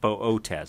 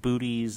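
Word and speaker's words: Boötes: in the constellation Bootes the two dots you see over the second oh in this case just mean to pronounce both letters with a long Oh Bo Oh tez it's not booties it's not bodis its bow Oh tez I'll begin by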